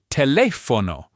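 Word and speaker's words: telefono: So, after our golden rule, the next most common pattern you'll find is the stress falling on the third to last syllable.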